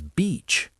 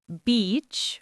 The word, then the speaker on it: beach: Sometimes people shorten the vowel sound, and it can sound like a different word, which can be confusing. Yes, that's true. So remember, it's beach with a long E sound.